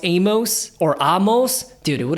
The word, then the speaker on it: Amos: I always pronounce my name Amos, right? Like famous Amos. But come to find out, the proper way to pronounce it in Judaism and in Hebrew is Amos.